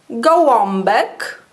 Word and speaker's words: gołąbek: Przed głoskami takimi jak b, p. O wymawiamy jak om. Na przykład gołąbek.